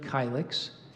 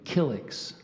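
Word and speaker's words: kylix: nymphs in a forest I gave you the pronunciation of kylex there's an alternate pronunciation of killix could you repeat the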